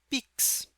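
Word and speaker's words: PICS: que devem ser negociadas sob o nome PIX, P-I-C-S. E a pronúncia faz uma referência ao Pix do Brasil, que é o principal método de transferências hoje, né, que foi criado pelo Banco Central.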